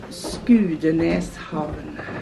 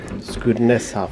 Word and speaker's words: Skudeneshavn: Can I ask you, how do you actually pronounce the town name? Skudeneshavn. Skudeneshavn.